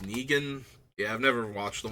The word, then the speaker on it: Negan: So this is, I believe his name is pronounced Negan.